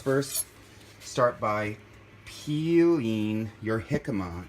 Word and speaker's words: jicama: So you just first start by peeling your jicama, and it's Jicama, jicama. That's how it's pronounced.